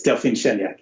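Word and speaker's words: Delphine Chanéac: And then I hope I'm going to try to pronounce this one. Delphine Cheniak? It's Delphine Cheniak, yeah.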